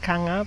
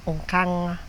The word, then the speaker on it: Nkanga: art does so my name is Autobahn kanga but actually the right way to pronounce it is Autobahn on camera so this is the